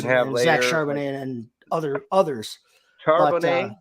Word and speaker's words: Charbonnet: Charbonnet, that's how I was getting ready to say that, and I would have said it wrong. So I'm glad you did. That's how I would say it. It looks French to me.